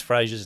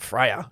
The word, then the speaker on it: Fraser: How do you pronounce Fraser's name? I think we're going with Fraser. Fraser. It's not Freya. Someone said Freya, I heard the other day.